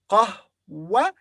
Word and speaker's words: قهوة: قهوة. And then the ta marbuta here is pronounced as ha because it comes at the end and we stop. So we say قهوة, قهوة, قهوة, coffee.